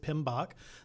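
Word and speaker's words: PMBOK: you've seen that before it's PM B we pronounce it pinok the pinok guide um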